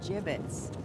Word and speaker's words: gibbets: look Avery had some gibbets left over jbits what it's pronounced jbits are you sure yeah